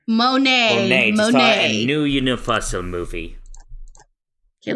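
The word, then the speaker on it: Monáe: Janelle Moni. Did I pronounce that right? Monet.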